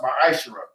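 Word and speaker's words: ma'aser: It means tenth in Hebrew and is pronounced ma'ashera.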